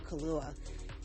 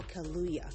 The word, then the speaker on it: Kaluuya: was because of uh daniel kahlua and oh i'm sorry daniel kaluuya sorry i pronounced that wrong um it was an